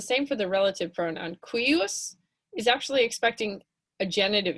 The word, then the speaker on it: cuius: c u i s c u i u s it's a little tricky imagine it as q u i u s cuius that definitely helped